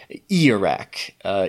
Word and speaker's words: Ijiraq: back to our creature, it is Ijiraq, even though it does have a J in there. Doesn't look like it, but definitely. Apparently that's how it's said.